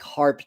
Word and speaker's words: HAARP: Um, and are there other mechanisms like HARP technology? That's spelled HAARP.